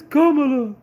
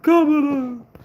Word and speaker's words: Kamala: It's Kamala. It's Kamala. Do not mispronounce her name. It's Kamala. Hold on.